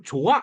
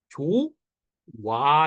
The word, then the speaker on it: 좋아: 정도예요 무슨 말인지 알겠죠 혹은 좋다에 아 붙으면 원래 히읗 탈락으로 좋아 이렇게 해야 되는데 사람들이 어떻게도 해 조와 이렇게도 한단 말이야 무슨 말인지 이해되세요 기가